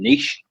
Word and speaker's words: niche: You're niche. Yeah, and for those people listening in America, I love that phrase. I think I told you this guys before. The Americans say niche, but we say niche.